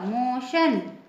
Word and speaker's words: motion: MOTION, इसमें भी टी के बाद IO आया हुआ है, इसका प्रोनाउंसिएशन होगा श, मोशन।